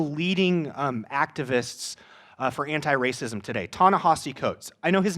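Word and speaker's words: Ta-Nehisi Coates: one of the leading activists for anti-racism today tana hossi coates i know his name looks like it's pronounced tony he see it's not it's pronounced tana hossie coates a book of his that i read this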